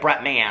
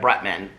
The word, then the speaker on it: Bretman: and rock's name wrong i say like brett mann i think but it's like bretman bretman rock okay anyway brett so